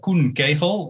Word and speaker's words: Koen Kegel: Yes, that's almost right. Oh. That's great. Yes, see, that's why I was hoping you were going to do it yourself. I was waiting for you to pronounce my first name. I'm paranoid about people's names. Yeah, no, it's good. It's good. So my name is Koen Kegel in Dutch.